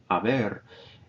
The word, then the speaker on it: haber: the auxiliary verb haber, notice I don't pronounce the H, haber, and the ado or ido past participle forms depending on whether it's an AR or ER-IR verb.